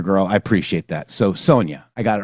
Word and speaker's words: Sonia: Her name is pronounced Sonia. Thank you so much, Caesar Girl. I appreciate that. So, Sonia, I got it right.